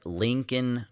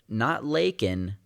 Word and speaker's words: Laken: He announces that he knows her name, and so he takes the pin up and pronounces her name as Lincoln Riley. Lincoln, not Lakin, Lincoln, like she's fucking Abraham Lincoln, dude.